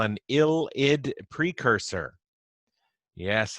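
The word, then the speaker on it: ylide: what we call an ill id precursor yes another organic chemistry word that we pronounce not the way we would first predict from its spelling ild is what this is called no this is the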